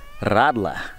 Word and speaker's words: Radler: this, is called a, Radler. I can't pronounce it. The R is pronounced interestingly in German, and I'm not very good at it.